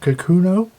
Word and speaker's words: Kakuno: Kakuno.